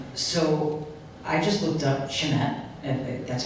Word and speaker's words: Chemet: So I just looked up Chemet, that's how you pronounce it, and they are certified by LBMA Good Delivery numerous times.